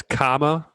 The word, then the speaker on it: Kamala: For you and for anybody else listening, it's comma, like the punctuation mark, and la, Kamala Harris.